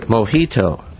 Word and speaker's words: Mojito: He's written his latest collection of poems is called The Last Mojito, M-O-J-I-T-O. Did I mispronounce that, Mr.